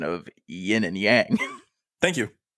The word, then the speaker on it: yin and yang: Also, props to you on the correct pronunciation of yin and yang. Thank you. It's not a yin yang. Yin and yang.